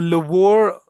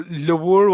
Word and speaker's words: Louvre: तो वो Louvre वाली जो pronunciation है उसे याद रखना. It's a French pronunciation and the answer is France.